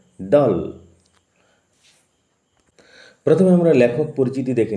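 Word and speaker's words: Dahl: উচ্চারণ লক্ষ্য কর। নট দাল উচ্চারণ হবে দাল।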